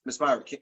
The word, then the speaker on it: Myrick: Did I say that right, Ms. Myrick? Miss Myrick, yes.